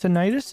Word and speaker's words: tinnitus: so or reduce today uh tinnitus tinnitus sound I think it's tinnitus is how you pronounce it make sure that's on